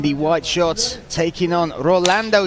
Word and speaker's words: Rolando: Philippines telling me that I was pronouncing the name wrong. Rolando, not Ronaldo.